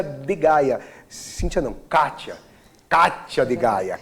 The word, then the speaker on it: Cathia D Gaya: Kátia de Gaia. Kátia, C-A-T-H-I-A, o D mudo, Gaia com Y.